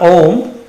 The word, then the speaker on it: Om: And let's end the class with the mantra Om, which is a 2-syllable sound, considered the universal sound.